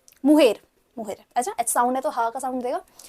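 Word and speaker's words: mujer: बाकी प्रोनाउंस करना आपके लिए आसान होगा. अब्यूलो, अब्यूला, प्राइमो, प्राइमा, सोब्रिनो, सोब्रीना, मारिदो, मुजेर, मुहेर, मुहेर.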